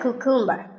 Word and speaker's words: cucumber: cucumber it's not a cucumber think of it like saying the letter q and then cumber like number so cucumber this vegetable